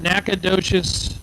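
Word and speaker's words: Nacogdoches: Dylan Bailey out of naad docious Texas I tell you what if you saw the spelling of nacadas there is absolutely positively no way you would pronounce it that way where is nacadas is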